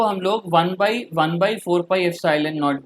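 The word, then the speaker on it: epsilon naught: और ये जो ई नॉट ये लिखा हो ना इसको एप्सिलॉन नॉट प्रोनाउंस करते हैं और एप्सिलॉन नॉट है परमिटिविटी ऑफ फ्री स्पेस, ठीक है ना.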